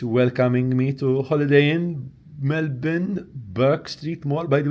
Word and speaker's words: Melbourne: So, in fact, that's wrong. It's Melbourne, not Melbourne. It's Melbourne. And we should get used to saying it, even though we might not visit Melbourne or Australia. It's good to pronounce names correctly.